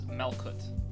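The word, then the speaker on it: Malkuth: So this one is Malkut. Like, Mal, M-A-L. And then the H is kind of denoting that it's a hard sound, so it's Kut instead of Kuth.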